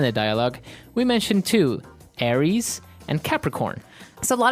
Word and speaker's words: Aries: And um so it's pronounced Aries. Aries.